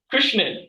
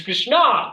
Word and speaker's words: Krishna: change people actually like correct my pronunciation say why you keep saying Krishna it's it's Krishna there's no in in